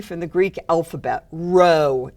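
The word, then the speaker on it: rho: from the Greek alphabet row is how you say this so this is Row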